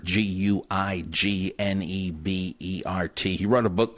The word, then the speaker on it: Guignebert: Now, how the heck would you say that? I must admit, I called up a French teacher and asked her, you'd say Guignebert. Sounds now, like some kind of fancy cheese, but Guignebert, G-U-I-G-N-E-B-E-R-T.